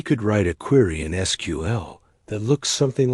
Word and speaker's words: SQL: It's usually pronounced SQL, like the next part of a story.